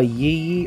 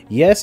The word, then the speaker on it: Yy: to read Lily by Yee or pika pika yes that is the author's name is like why why so I pronounce it ye although the model was